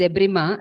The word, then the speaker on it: debridement: no what is debridement debridement actually it's debrima the pronunciation since we have got adapted to Indian pronunciation became debridement we can call it as deep right but it's no problem yeah cleaning of the